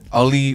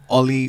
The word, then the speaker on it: Ollie: say the name again Ali Watkins is that how you say it Ollie okay one more time